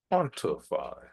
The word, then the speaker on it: quantify: Next we have quantify. Quantify. The emphasis again on the first syllable.